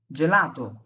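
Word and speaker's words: gelato: জি এর পরে যখন এ অথবা ই থাকবে, হ্যাঁ, জি এর পরে যেমন আমি বললাম যে ভাই জেলাতো, জেলাতো কেন হবে জানেন?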